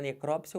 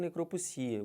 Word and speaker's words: necrópsia: E você vai ter também a mesma coisa para necrópsia ou necropsia. Os dois estão corretos também.